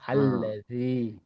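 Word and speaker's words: الذي: Ini ini bacanya bukannya bukan lati alladzi. Alifnya dibaca alladzi.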